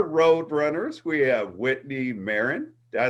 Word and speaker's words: Marin: the lone star road runners we have whitney maron did i say it right this time yes